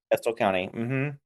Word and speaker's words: Estill County: Estill County.